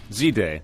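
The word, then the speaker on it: Z-Day: This is the fourth annual is it zed day? Zday. Zday. Well, I see. But it's Canada, so people say zed up here. Initially, I had said zay in my head and then I caught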